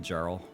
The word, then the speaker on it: Jarl: for the follow y'all I'm only calling you yarl because that's like the proper pronunciation if you want to be called Jarl I can do that